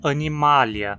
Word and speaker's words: animalia: Acho que aqui todos estão cientes de que a pronúncia adequada é animalia, certo? Mas por quê? Por que não dizemos animalia?